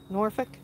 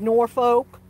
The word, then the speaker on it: Norfolk: little bit different but they are suffk Portsmouth norick that's how we pronounced them if you said Norfolk even though it's spelled that way they knew that you were a foreigner hey they were like